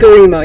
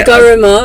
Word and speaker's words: Garima: Garima. Yeah, you said it right. It's actually Garima, like in our.